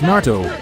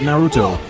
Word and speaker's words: Naruto: great dojutsu of Narto it's Narto huh it's Naro not Naruto or naru it's just Narto the original anime tells you how it's pronounced at this point I